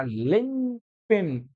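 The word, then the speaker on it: linchpin: अगला वर्ड है आपका लिन पिन क्या कहेंगे इसको लिंक पिन कहेंगे ठीक है इसमें सी साइलेंट होता है लिन पिन क्या होता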